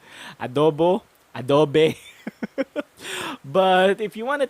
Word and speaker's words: Adobe: the same pronunciation adobo adobe but if you want to take things more seriously you put a little bit of emphasis on the o sound in the middle and that is a